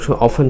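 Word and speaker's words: often: আবার প্রায় অর্থে আমরা অফেন শব্দটি ইউজ করি, অফেন বা অপটেন উচ্চারণ করেন, নো প্রবলেম, বাট এখানে ফ্রিকুয়েন্টলি ইউজ করতে পারেন, যেটা প্রায়ই ঘটে, ইট হ্যাপেন্স ফ্রিকুয়েন্টলি।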